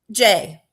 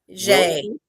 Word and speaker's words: Gex: How do you say Gex? What's his name? Jay. It's Jay? Yeah. Jay. Jay Williams. It's spelled Gex. Yes, it's like a French Swiss spelling.